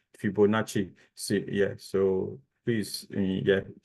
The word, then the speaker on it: Fibonacci: you said Fibonacci yeah so it's Fibonacci is is like is Italian anyway so it's a Chan for the CCI at the end Fibonacci see yeah so please